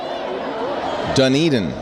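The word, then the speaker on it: Dunedin: happy New Year New Zealand how do you pronounce it Duneden thank you dun Eden oznet is in New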